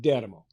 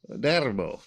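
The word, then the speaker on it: D'Eramo: Do you say if I get off on the plane in Rome, it's pronounced Dermo. Dermo. They ignore those apostrophes. Put a little different emphasis on it.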